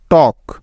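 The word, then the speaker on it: talk: এল এফ বিহা next কে এর আগে এল সাইলেন্টের কিছু উদাহরণ যেমন টক টি এ এল কে টক ওয়াক ডব্লিউ এ এল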